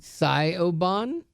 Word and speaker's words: Siobhan: Scioven. I'm sorry if I said that wrong. S I O B H A N. Sioban. Sioban.